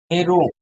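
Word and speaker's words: Héroult: Extraction of aluminium by অল হেরো, HEROULT, French আর কি। তাদের তো একটু নাকি সুরে উচ্চারণ হয়।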